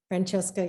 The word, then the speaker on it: Francesca: I hope I'm pronouncing your name correctly. Francesca, yes, that is correct.